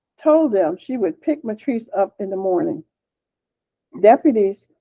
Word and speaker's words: Matrice: Um and is that spelled like Patrice but with an M as in Mary? Like Matrice?